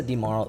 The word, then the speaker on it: DiMauro: A great conversation with Vanessa DiMauro. Rhymes with tomorrow, she said. Vanessa DiMauro, VP of Community at Georgian Partners.